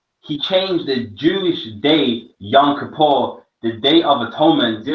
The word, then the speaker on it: Yom Kippur: The real pronunciation is Yom Kippur.